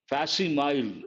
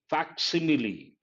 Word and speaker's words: facsimile: This people mispronounce. They say facsimile, not correct. It is facsimile.